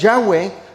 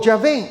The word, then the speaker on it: Yahweh: Yahweh es transliterado del hebreo al español como Jehová, pero en lengua hebrea es Yahweh o Yahvé. Las dos pronunciaciones son válidas, Yahé o Yahweh.